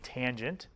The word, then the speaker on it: tangent: the third one is called tangent we abbreviated t a n but we say tangent of the angle equals